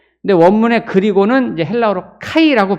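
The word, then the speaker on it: καί: 있나 없으나 뜻은 비슷하게 우리가 다가오지만 근데 원문의 그리고는 이제 헬라어로 카이라고 발음하는데 카이는 그리고라고 번역을 하기도 하지만 그러나라고 번역을 하기도 해요.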